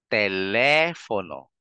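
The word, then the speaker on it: teléfono: naririnig kalis kalis Ayan telepono yung fo at saka no mabilis na lang no telepono and last example natin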